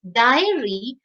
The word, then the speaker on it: diary: That's why spelling is Dairy for milk products, whereas diary, which refers to writing, E sound comes before R.